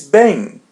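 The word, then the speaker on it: bem: As you see M comes in the end and there is E or A before. So we pronounce it as a bang.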